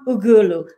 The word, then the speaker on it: Ughulu: things that he does his name is john ugulu did i pronounce it well absolutely you know welcome thank